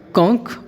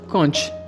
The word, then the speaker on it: conch: Next word is conch और conch, दोनों ही बोल सकते हैं, क्योंकि इंग्लिश में ch के लिए दो अलग अलग प्रोनाउंसिएशन है।